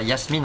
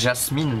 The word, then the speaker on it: Jasmine: D'ailleurs, on devrait dire Yasmine en vrai. Je sais que dans le film ils disent Jasmine, mais c'est Yasmine, il me semble.